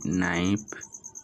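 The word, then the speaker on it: knife: শুরুতে যদি কোন ওয়ার্ডে কে থাকে এবং তারপরে যদি এন থাকে তবে কে এর উচ্চারণ হয় না কে এন আই এফ ই নাইফ কে এন আই জি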